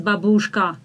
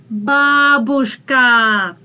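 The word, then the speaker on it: бабушка: single foreigner mispronounces it everybody says babushka that's not babushka that's babushka ah is stressed unfortunately my grandmother died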